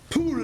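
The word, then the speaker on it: πύλη: It comes from the root pule, that's how it's pronounced.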